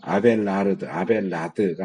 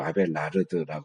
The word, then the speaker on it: 아벨라르드: 어제 내가 아벨라드가 아니고 아벨라르드라고 그랬죠. 발음이.